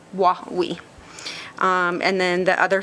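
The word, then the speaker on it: Wa Wee: That is spelled W-A space W-E-E, and it's a phonetic spelling from the Washoe because their language has a lot of different ticks and such, but that's the phonetic spelling, Wawi.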